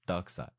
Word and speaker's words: Darkseid: I said dark side also it's not Darkseid it's dark side that's what I thought